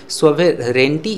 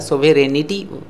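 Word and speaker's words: sovereignty: आप प्रोनंसिएशन पर फोकस जरूर करें, सोवेरेंटी इसका प्रोनंसिएशन होता है, सोवेरेनिटी करके कोई प्रॉब्लम कोई वर्ड नहीं होता है, ठीक है।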